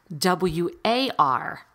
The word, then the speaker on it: war: here or there, but usually WAR is pronounced with an OR. So it's spelled WAR, but it's pronounced war.